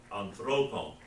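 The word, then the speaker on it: ἀνθρώπων: Remember your accent there, and the omega is the long O. Anthropon.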